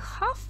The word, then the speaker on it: half: Однако half, половина, она h читается, и буква h читается, но тем не менее l не читается.